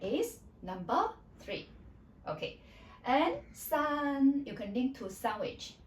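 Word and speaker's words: 三: Common mistake is like sun your voice was dropping then it was wrong. So you need to keep at that pitch. Okay? Don't go up or go down. Sun that is number three.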